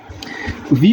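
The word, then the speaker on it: We: अब नेक्स्ट क्या देखेंगे हम, W का, W इसकी प्रोनाउंसिएशन क्या आती है W की, फाओ, वे, वे, VAY, VAY, वे।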